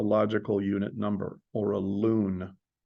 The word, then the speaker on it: LUN: unit number or a loon I know it looks like Lun but it's pronounced loon and the first uh